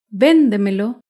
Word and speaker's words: véndemelo: Véndemelo se acentúa en la sílaba anterior a la antepenúltima sílaba.